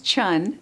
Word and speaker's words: Chhun: It's spelled. My last name is Chun, Chhun.